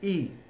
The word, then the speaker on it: y: would get replaced by the letter Y which is pronounced e however I cannot leave